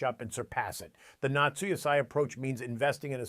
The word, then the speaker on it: natsu yasai: They call it natsu yasai, pronounced not so yasai, which means summer vegetables.